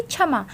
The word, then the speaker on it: क्षमा: देखिए, अगर ये स्टार्टिंग में आता है तो ये हमेशा छ का उच्चारण होगा इससे, ठीक है, तो इसका उच्चारण क्या होगा, छ।